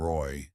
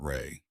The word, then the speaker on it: Roy: 11 people, including Willa and the pastor, who mispronounced Thomas's middle name, Roy, not Rey.